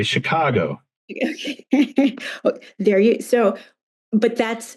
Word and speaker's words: Chicago: example like Chicago um so Chicago there's a there's a shape to the to uh that word um there's there's Accent on the second Chicago and then fall High